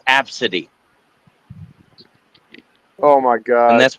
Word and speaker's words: Abcde: She goes, "No, it's pronounced absity."